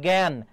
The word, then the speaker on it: জ্ঞান: যেমন জ্ঞান এটা কিন্তু বিগত বছরের প্রশ্ন। জ্ঞানের উচ্চারণটা কি হবে? তাহলে বর্গীয় যায় ইয় যদি থাকে তাহলে সেখানে গয় জ ফলা হবে। গয় জ ফলা হবে এবং চন্দ্রবিন্দু হবে।